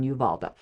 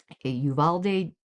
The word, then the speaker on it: Uvalde: This is a fiction based upon his true life story in of the school incident in Yuvalda. I know I'm pronouncing that wrong. Yuvalde Texas.